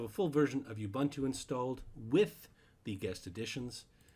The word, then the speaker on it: Ubuntu: to call this ubuntu there's many ways of pronouncing ubuntu it's ubuntu i call it ubuntu um but the real official way of saying it is ubuntu i just find it sounds really strange because i've always called it ubuntu and i've